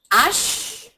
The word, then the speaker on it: H: what do I call that g becomes J Ash H is pronounced Ash here it's written Ash as an